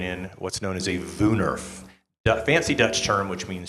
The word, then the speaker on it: woonerf: It's a WOONERF, pronounced VUNERF.